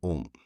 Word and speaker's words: ॐ: ओम में पहली मात्रा अ, दूसरी ओ और तीसरी म है। ये तीन स्थूल चरण हैं। जब हम ओम का उच्चारण करते हैं, तो ये तीन अक्षर होते हैं। परंतु ओम का उच्चारण और अंत में जो म आता है, वह गुंजित होता है।